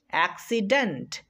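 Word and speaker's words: accident: আবার যদি সি এর পরে আই থাকে তাহলে দুইটা সি এরই উচ্চারণ করতে হবে, খেয়াল রাখতে হবে জিনিসটা।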